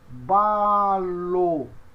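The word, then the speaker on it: βάλλω: Então, nós temos, olha, beta e alfa. Como é que se pronuncia? Ba. E lambda, ômega, lo. Lambda, som de L, ômega, O. Então, eu tenho balo. Tá certo? Balo. Essa é a pronúncia.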